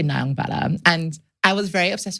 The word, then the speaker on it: Nyongbella: The pronunciation of your name is also like I hear Nyongbella from you. Yeah. But then I also hear Nyongbella from a lot of people. So my brain always takes a second to go, which one do you pronounce it as? But to be fair, I'm kind of like fooling everyone because neither are actually correct. What is correct? To be fair, it's actually Nyongbella.